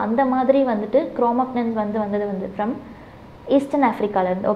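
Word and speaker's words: Cro-Magnons: குரோமக்னன்ஸ் அப்படின்னு சொல்லிட்டு இந்த இடத்துல ஜி இருக்கனால குரோமக்னன்ஸ் அப்படின்னு ப்ரொனவுன்ஸ் பண்ணுவோம். குரோமக்னன்ஸ் யாருன்னா இந்த ப்ரெசன்ட் மேன்.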